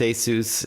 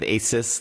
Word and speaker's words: ASUS: And yes, it is pronounced ASUS instead of ASUS, like all my friends say.